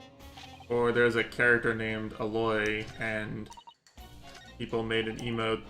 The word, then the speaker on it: Aloy: Oh, they put Aloy? You don't even pronounce it like it sounds like Ahoy.